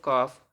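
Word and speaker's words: calf: ए एल के talk C ए एल एफ काफ ए एल एम S arms okay अब एन कब silent रहेगा एम के बाद आया हुआ एन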